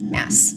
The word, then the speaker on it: Maas: For the longest time when I was just guessing, I said Moss as well, and so now I always say it. Now I always say it wrong. But so we're trying to remember to say Maas. Maas.